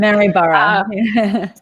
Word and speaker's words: Maryborough: Maryborough. Maryborough, yes.